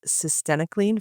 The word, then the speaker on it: cytisinicline: About if anyone wonders how to pronounce it, it rhymes with verenacle. This was a article titled Cyenocan for smoking sessation.